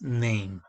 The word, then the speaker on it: name: Esta E no suena, por eso la pronunciación es name, first name.